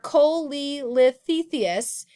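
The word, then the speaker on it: cholelithiasis: is exactly what they are but they are Kohli lifts Theseus and you if you say either people will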